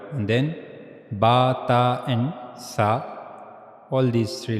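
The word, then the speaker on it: ث: in Caesar's thumb and that's how we will pronounce ta ta ta and then we read about sa that's similar to ta just a little difference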